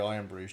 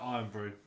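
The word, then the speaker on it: Irn-Bru: I'll go wherever the Iron Brew's cheapest.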